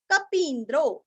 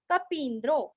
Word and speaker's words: कपीन्द्रो: शरीर भूत भृत भोक्ता कपीन्द्रो कपि का पी दीर्घ आधा न और द्रो कपीन्द्रो भूरि दक्षिणः भू दीर्घ री रस्व क्षीरस्व भूरि दक्षिणः भूरि दक्षिणः।